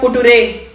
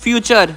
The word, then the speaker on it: future: ये तो है फुटुरे। चुप करो पागल। किशन, इस वर्ड का सही प्रोनाउंसिएशन है फ्यूचर।